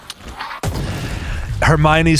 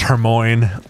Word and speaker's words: Hermione: Hermione's spelled the same, but it's pronounced Hermione, like everyone did before they knew how to pronounce her name.